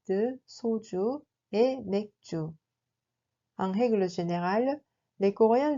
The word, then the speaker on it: 맥주: On le prononce en réalité comme 맥주. 맥주.